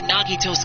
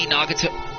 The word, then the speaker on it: Nagito: all went according to nagito's plan huh like about that was that really nagato nagito's goal accidentally pronounced his name wrong is it really okay